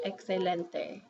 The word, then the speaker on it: excelente: H there but then in a word like excellente then it sounds like a KS excelente okay um and then you've